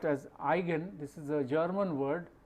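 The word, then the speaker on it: eigen: an igen value of a matrix this is pronounced as igen this is a German word which means in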